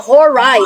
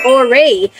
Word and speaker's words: Horai: triplets ay tinatawag na horai or hore alternative pronunciation is ores meaning Seasons or hours